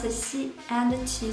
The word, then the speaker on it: xi: So when you pronounce these 3 initials, you need to put the tip of your tongue behind your lower front teeth. ji, qi, xi.